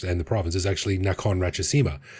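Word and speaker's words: Nakhon Ratchasima: the province is actually Nakon Rachesima. They took the the last syllable of the first word and the first syllable of the second word.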